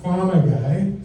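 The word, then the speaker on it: Pharma Guy: I used to be known as Farmer Guy. That's P-H-A-R-M-A, not F-A-R-M-E-R. Did I spell that right?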